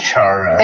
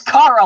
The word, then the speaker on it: Chara: No, I pronounce it Chara. It's Kara, like character.